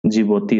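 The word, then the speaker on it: Djibouti: Egypt Yemen और जिबोती इसके आगे डी है साइलेंट है जिबोती इसको कहते हैं देखो अलग-अलग ट्रिक में इसको डी से प्रोनाउंस किया जाता है पर हम इसको इसलिए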